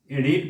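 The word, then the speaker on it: read: Person singular নাম্বারের পরে রিড ভার্বটা আছে, এটার উচ্চারণটা রিড হবে না, রেড, অর্থাৎ রিড, রেড, রেড, রিড ভার্বের তিনটা ফর্মই একই রকম, উচ্চারণে পার্থক্য, স্পেলিং একই।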